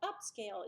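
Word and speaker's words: Upscayl: have is a free open source program called upscale it's spelled a little different if you'll notice here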